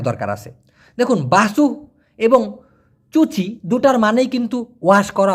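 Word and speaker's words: cuci: বলা হয় চুচি ক্রেতা সি ইউ সি আই যেহেতু সি উচ্চারণ হয় চ এর মত এজন্য চুচি ক্রেতা অথবা বাচু ক্রেতা অথবা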